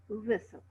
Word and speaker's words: whistle: Just like listen, fasten, castle, hustle, and whistle. They are T is silent.